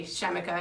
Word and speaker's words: Chemica: So, we always say Chemica because that's how you pronounce it.